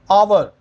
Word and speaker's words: hour: HOUR, आवर, आवर, ठीक है। क्या बोलते हैं? आवर, एच साइलेंट, लेकिन हम क्या बोलते हैं?